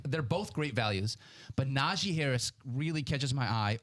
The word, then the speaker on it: Najee: He gets very irritated if you say Najee, which is, you hear a lot. Naji, yeah. Najee. It's an E, yeah, say it how it's spelled.